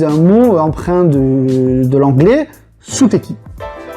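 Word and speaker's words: ステーキ: Pour le steak, les Japonais utilisent un mot empreint de l'anglais, suteki. Suteki, steaki, ah bah oui, steak, prononcé à la japonaise.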